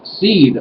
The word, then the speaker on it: seiðr: on the top and uh would be pronounced as in width anyway so what is seed or seed craft it